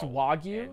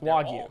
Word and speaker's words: Wagyu: It's pronounced Wagyu. It's Wagyu.